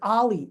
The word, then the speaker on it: OLLI: Oh, it's how I thought it was Oli. It's Ollie.